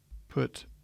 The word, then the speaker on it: pi: don't be confused here this is technically pronounced as you would say this letter P as English speakers were used to calling this Pi but this is really